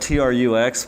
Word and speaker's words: Trux: to it looks like TRUX, but I heard it's pronounced T-Rux.